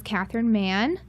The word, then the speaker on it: Catherine Mahon: you did that because I'm very hard to pronounce last name my name is Kathryn man I'm a Google Kerry native I went to